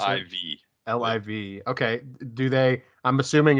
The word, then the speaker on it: LIV: tour is called what again how do you pronounce iv liv okay do they i'm assuming it's like uh